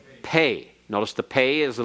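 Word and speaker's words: פ: is without the dougish it is pronounced like f or like pH as in fat or as in phone if you want to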